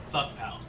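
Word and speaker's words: FVCKPAL: into all chat, like, how do you pronounce F-V-C-K-P-A-L? And they were just like, fuck pal.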